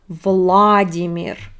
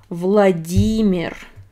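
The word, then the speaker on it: Владимир: in english it's not vladimir no in russian we stress e vladimir vladimir putin another very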